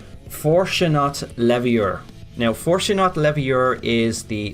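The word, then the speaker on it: Fortunat Leveilleur: But if you're wondering who this person is, I'm going to try and pronounce his name properly. It's Fortunat Leviur.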